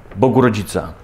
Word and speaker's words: Bogurodzica: nasze działania rekonstruktor dzisiaj pierwsza rekonstrukcja Proszę bardzo Bogurodzica Bogurodzica Bogiem sławiony nic z tego nie będzie